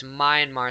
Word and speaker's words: Myanmar: myanmar now i was not sure how to pronounce this name it's myanmar so i looked it up and it's also